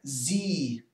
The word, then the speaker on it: Sie: The long E is pronounced E, right? Sie, wir, ihr.